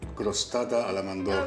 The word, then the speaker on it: crostata alla mandorla: You need to be able to roll your R's to say this. It's called crostata alla mandorla.